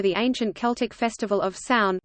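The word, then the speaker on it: Samhain: ancient celtic festival of sound pronounced sour in the celts who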